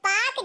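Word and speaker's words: Palk: है यह पाक जलसंधि पी ए एल के को हम पाक कहते हैं ठीक है ना इसमें ल साइलेंट होता है मैक मोहन रेखा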